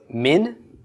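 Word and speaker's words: מִן: And a mem with a chirik, followed by a final nun. Min. Okay?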